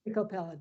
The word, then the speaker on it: Miko Peled: That's Miko Peled, but you've got the idea.